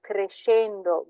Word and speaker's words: crescendo: When you have a C, an S and a C, it's a sh sound. So sta crescendo benissimo.